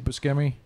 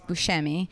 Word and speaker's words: Buscemi: So I think that I say Buscemi, but Buscemi. I think I'm wrong. Okay. I think that's the Italian way to say it is Buscemi, but I think he pronounces it Buscemi.